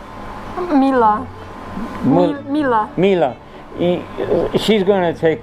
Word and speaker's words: Mila: how do you say your first name mila mila mila she's going to take classes with me